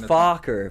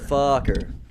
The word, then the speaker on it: Fucker: gaylord pocket just no it's pronounced focker but spelled fucker but fucker pronounced focker oh fuck um moonlight